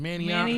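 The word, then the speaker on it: Manayunk: Manioc?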